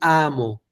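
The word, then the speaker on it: a'mo: Así que lo podemos escribir simplemente con un saltillo. Hay quien lo puede poner con una H en vez de el apóstrofo, sin problema. Las dos están correctas. A mí me gusta en lo personal el apóstrofo para indicar el saltillo, ¿de acuerdo? Es decir, esa aspiración. Amo, amo, ¿de acuerdo?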